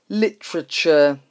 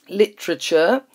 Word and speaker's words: literature: Now, a very difficult word to pronounce is literature. Literature is books and writing that are valued as works of art. How do we pronounce it? So the usual T-U-R-E ending is ch, but we have tr-ch.